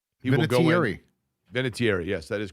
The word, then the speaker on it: Vinatieri: Vinatieri, yes, that is correct. That is the correct pronunciation, as Adam Vinatieri himself will tell you, right?